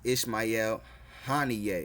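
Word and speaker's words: Ismail Haniyeh: assassinated a man called uh his name is Ishmael Han all right that's how you pronounce his name it says Iran's leader orders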